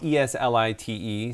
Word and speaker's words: Eslite: And it's spelled ESLITE. Yes. So some people say Elite, some people say Eslite. Eslite, yeah. But I think they say Elite in the store.